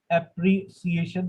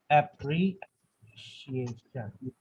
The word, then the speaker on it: appreciation: एप्रिसिएशन पढ़ते हुए आए, बट the right प्रोनाउंसिएशन इज एप्रिशिएशन, एप्रिशिएशन, एप्रिशिएशन।